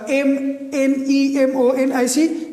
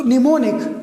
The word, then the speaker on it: mnemonic: n i c so mnemonic mnemonic here m is silent when m comes at the initial position remember when m comes before n at the initial position then m is silent when m comes before